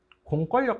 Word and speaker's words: 공권력: 그러니까 니은이 리을 앞에서 리을로 발음이 되는 건데, 자, 문제는 예외가 있어요, 얘가. 그 예외가 지금 있는 공권력 같은 건데, 자, 보시면 공권력 같은 경우에는 공권력으로 발음이 되고, 또 하나 예를 볼까요?